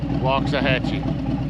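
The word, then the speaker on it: Waxahachie: we're headed up to walks a hatchee Texas sounds just like it's spelled walks a Hatchy I guess go beautiful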